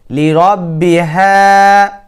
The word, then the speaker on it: لربها: আবার وأذنت لربها, লিরব্বিহা না, হলকের শুরু হতে এই হা উচ্চারণ হয়, লিরব্বিহা।